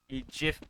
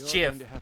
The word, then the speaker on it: GIF: who you are JF because it is JF it's JF and jibs coffee get it right a failure of this